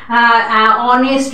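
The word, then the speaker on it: honest: সেরকম উচ্চারণ, এটা আওয়ার, অনেস্ট ম্যান, এখানে কিন্তু এইচটা সাইলেন্ট থাকে, তো এইসব সাইলেন্ট যে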